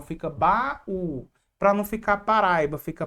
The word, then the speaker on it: baú: Para não ficar bau, fica baú. Para não ficar paraiba fica paraíba. Para não ficar pais, fica país.